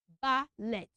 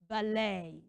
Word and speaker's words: ballet: a French word and it ends with letter e t so instead of pronouncing it as at you pronounce it as a so let me make